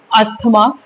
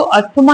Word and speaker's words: asthma: आज हम पढ़ने वाले हैं अस्थमा, जिसका करेक्ट प्रोनाउंसिएशन एज्मा होता है, जो कि एक ग्रीक वर्ड है जो कि हिप्पोक्रेट ने दिया था।